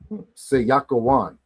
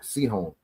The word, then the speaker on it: Sihon: Sihon. Watch how it really is pronounced. La Sayakawan. Seyakawan, not Sihon.